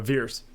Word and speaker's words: Vers: Was it Verse or Veers? Is that how they pronounce it? Veers. Like Veers.